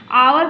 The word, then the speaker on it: hour: क्योंकि जब हम HOURE इसको हम क्या पढ़ते हैं? आवर पढ़ते हैं, एच साइलेंट होता है।